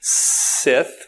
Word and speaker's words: SSITH: You notice I pronounce it SSITH with an extra S.